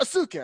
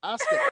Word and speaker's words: Asuka: He gets it now, but the first time he was like Asuka. I said no, it's Asuka. He just looked at me like, Oh my god, I'm sorry. No, That's are you Asuka.